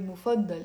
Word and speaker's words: مفضلة: Now, if I want to use the word مفضل in the feminine form, I have to say مفضل.